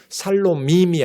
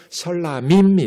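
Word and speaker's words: 셸라밈: 그래서 앞이 발음이 약해지면서 샬롬밈이 아니라 셜라밈이 돼요.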